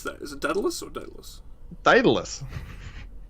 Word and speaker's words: Daedalus: How do we pronounce that? Is it Daedalus or Daedalus?